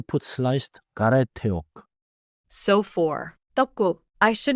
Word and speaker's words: 떡: Keep it short and firm. 떡. 좋아요. Final 기억 closes the syllable. Don't say an extra sound after it.